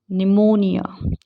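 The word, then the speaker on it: pneumonia: leopard इसका ध्यान रखिए अब पी कब साइलेंट होता है जब वो पीएस या पीटी के साथ होता है जैसे सूडो इसको पी को साइलेंट रखेंगे साइको साइकिक निमोनिया ठीक है और कुछ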